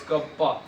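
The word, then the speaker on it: κ: 1/रो is equals to के को क्या कहते हैं sir, pronounce as कप्पा, कप्पा की तरह प्रोनाउंस करते हैं, तो के क्या है यहाँ पे, के इज द कंडक्टिविटी, के इज द कंडक्टिविटी।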